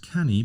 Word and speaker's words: Canu: our sponsor today is canny publishing which is spelt C Anu so looks like can you but pronounced canny because it's a Welsh word and it's a Welshman